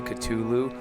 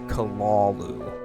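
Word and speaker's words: Cthulhu: they pronounce them correctly most people say culu I've heard numerous times that it is kalalu not culu kalalu.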